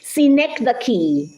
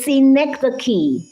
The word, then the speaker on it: synecdoche: Synecdoche. Can you say synecdoche? Synecdoche is spelled SYNECDOCHE, synecdoche.